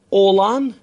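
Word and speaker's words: oğlan: اولان اولان یعنی پسر، اولان پسر که اینجا در واقع یومشکیه تلفظ نمیشه.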